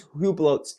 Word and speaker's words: Hublot: still um So speaking with Esquire Italia he's hublot's Ambassador Hublot is how you say it the